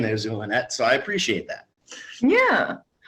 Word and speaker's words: Zulynette: what you're saying there's zoolonette so i appreciate that yeah a point of uh of uh of being hooked on phonics because z is pronounced like an s so yeah okay oh